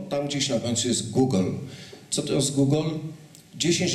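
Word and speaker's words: googol: Otóż największa znana mi liczba, która ma nazwę, to jest Google. Tak się to wymawia. Proszę Państwa, notabene bardzo poprawnie się to może Państwu kojarzyć z pewną firmą.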